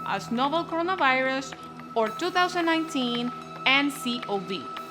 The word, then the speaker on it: nCoV: It is referred to as novel coronavirus or 2019 N Co Vee, pronounced N Co Vee.